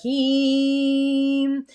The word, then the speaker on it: Ham: It's the seed sound of Heem. And I always put the sound in the show notes. It's spelled H-A-M, but it's the E in sleep in the tonality.